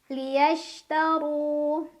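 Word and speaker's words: لِيَشْتَرُوا: Shin itu punya banyak sifat, tapi salah satu yang khas adalah sifat tafashi, yaitu menyebarkan angin di dalam mulut. Liyashtaru.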